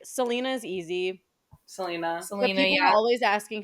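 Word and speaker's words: Celaena: feel like Selena's easy Selena SEL people always asking how to pronounce that and like just like Selena Gomez I don't know and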